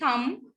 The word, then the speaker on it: thumb: So in English, B is silent in the spelling M and B and BT occurring in the final position in the words.